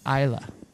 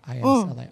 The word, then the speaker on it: Isla: It's Isla. That's how you pronounce I-S-L-A. Isla.